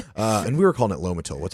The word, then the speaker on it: Lomotil: And we were calling it Lomotil. How do you pronounce it? Lamotil.